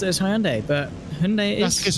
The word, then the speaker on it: Hyundai: Schwartz in the Race Anywhere Sim Sports 047 Hyundai.